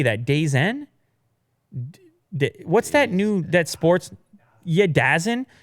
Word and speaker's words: DAZN: DAZN?